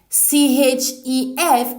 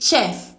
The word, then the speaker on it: chef: CHEF is not pronounced chef as in church. It is pronounced chef. The transcription is a long S sound, sh as in chef.